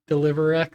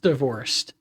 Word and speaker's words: DLV XR: how would I pronounce that? Like, DeliverX said? Maybe? I agree, sushi's so good. Baking is also so fun. Real? Baking is very fun. Oh, plenty of iron. What should we get rid of? We probably don't need all of the beds. Um, so, okay. It's pronounced divorced.